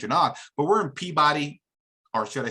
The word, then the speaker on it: Peabody: You spell it one way, but it sounds completely different. It's hilarious. But listen, I respect, right? Peabody. It's spelled Peabody, but it's Peabody.